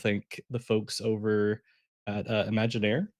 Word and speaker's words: Imaginaire: Want to thank the folks over at Imagineer, I think is how it's pronounced, or maybe there's a French accent to it. I'm not sure. Um, Imagineer exactly, uh, for